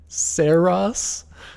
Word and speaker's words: Saros: Saras that is not like but apparently it's like a you know it's a term in astronomy. Saras Saras I will not be pronouncing it this way. I don't I don't think um like rhymes with hair loss.